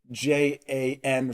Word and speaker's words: Jan: So in German, J's have the sound of a Y. That's why Ja is spelled J-A, not Y-A. So he would never mistake J-A-N for Jan.